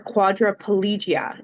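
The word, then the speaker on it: quadriplegia: So, para or quadripolgia. Am I pronouncing that correctly?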